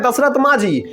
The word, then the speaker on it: दशरथ मांझी: बस कारण होना चाहिए इसका शुद्ध उच्चारण है दशरथ मांझी इन्होंने एक छेनी और